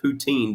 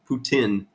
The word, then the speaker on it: poutine: We I've always said poutine, but I think I've been told that it's Putin instead and us Americans just say it wrong.